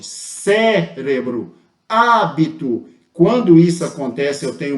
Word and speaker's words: hábito: as palavras polissílabas correto e Cérebro eu tenho a antepenúltima sílaba a antepenúltima sílaba tônica mais forte cérebro hábito quando isso acontece eu